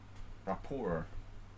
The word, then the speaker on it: Rapport: it's d6 yeah well if you pronounce it like rockport you know it sounds kind of english but rapport it's french thanks thanks masterbate for